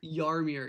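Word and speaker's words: Jaromír: Jaromir.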